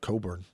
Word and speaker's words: Colburn: he's just like calling himself Coburn. There's an L Coburn. in there, but you're not allowed to Coburn. pronounce it.